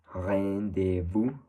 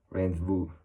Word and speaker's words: rendezvous: Then we have another one, which is rendezvous, which would be like in the French of rendezvous, rendezvous, rendezvous. And in English, it's kind of more of a hard sound, would be rendezvous, rendezvous.